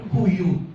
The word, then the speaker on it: Huion: How do you pronounce it? Huion? Huion? Huion.